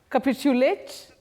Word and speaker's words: capitulate: Oh, the stress is on the second syllable for that word. In fact, that is a verb and you say capulate. To capitulate, not capitulate. Not capitulate. You say capitulate.